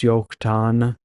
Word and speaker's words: Joktan: to explain here again in Hebrew they don't have J's or a j sound so everything with a J is actually a why in Hebrew so it's yokan and so with this